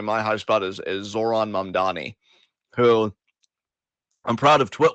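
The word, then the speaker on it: Zohran Mamdani: I'm going to say my high spot is is Zoron Mandani, who I'm proud of Twit Wow for being a podcast that can uh properly pronounce the man's name.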